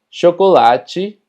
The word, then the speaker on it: chocolate: Y es que cuando las palabras terminan en TE, normalmente TE se pronuncia como chi. Por poner algunos ejemplos, limite, combate, chocolate, dente.